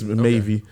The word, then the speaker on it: MAVE: like just like yeah they said it's uh maybe um is the proper way of uh like pronouncing the group name and everything like I